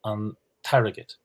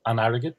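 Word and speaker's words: an t-airgead: So arrogate means money, but when we say the money, we say antarrogate. Not anarrogate, but antarrogate. So that's that.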